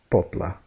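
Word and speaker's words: poble: in ble in Catalan they don't pronounce it like a B they pronounce it more like a P okay so it sounds like pop la pobla right and that's the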